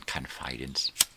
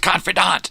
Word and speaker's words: confidant: than confidance and it's pronounced confidant.